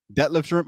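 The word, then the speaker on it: Detlef Schrempf: Detlef Shrimp.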